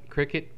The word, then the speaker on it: Cricut: you can look up Cricut, which is not spelled like the insect, so don't be fooled.